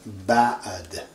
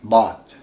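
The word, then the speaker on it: بعد: This is ba'ad. In English we say what? B-A and a space here, ba'ad. It's not really bad.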